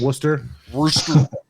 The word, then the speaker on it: Worcester: fantastic tap list um worcester is kind of it's spelled warcester i called it warcester like uh you know a true american would but uh those people up in boston call it worcester so it's kind of